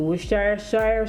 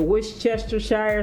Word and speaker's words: Worcestershire: The Worcestershire sauce. The Worcestershire sauce. I think I actually said it right that second time.